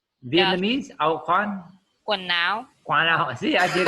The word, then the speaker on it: quần áo: Áo khoan? Vietnamese? Áo khoan? Quần áo.